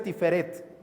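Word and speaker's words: תפארת: la gloria la gloria en el hebreo original se pronuncia tiferet y significa brillo belleza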